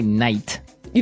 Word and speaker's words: nightie: But you don't say night. You don't say nighty. You say nighty. Yeah, you make the T a D.